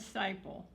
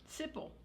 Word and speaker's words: Siple: Yes, her name was Siple. Siples. S-P-I. Siple. Thank you. Sipple, some people pronounce.